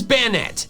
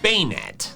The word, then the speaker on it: Banette: Next is bayonet, and this is one where I'm just flat out wrong and I have no excuse. The official pronunciation is bayonet. Bayonet. It's a combination of bane and marionette.